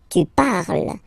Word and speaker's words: parles: So you've got the two first forms, you pronounce them the same way. You write them differently, of course, because you get here, and then you've got and s, okay, but then phonetically, they are the same.